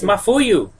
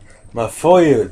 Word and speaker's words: Mafuyu: it's my my brother muyu it's mafuyu mafuyu that's how you say it is this the end